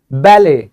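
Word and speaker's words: ballet: बैले। क्या कहते हैं? बैले। क्योंकि ये जो डी है ये साइलेंट होता है।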